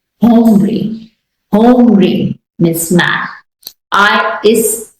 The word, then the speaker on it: hombre: In general, this letter is silent. However, the breathy aspiration is maintained. For example, hombre.